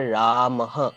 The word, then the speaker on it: रामः: उसके बाद ये विसर्ग चिन्ह आ रहा है। उसका उच्चारण ह के तरीके से होता है।